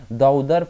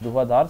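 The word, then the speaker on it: धुआंधार: एंड दी दाउदर false, और ये धुआधार false, धुआधार sorry मैंने प्रोनाउंसिएशन गलत कर दी थी, लेकिन इसका क्या है धुआधार फॉल्स इसका निर्माण करते हैं।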